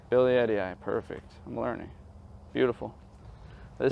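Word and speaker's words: billietiae: a nice variegated uh how do you pronounce ability I say billote but you said Billy Eddie guy Billy Eddie eye perfect I'm learning beautiful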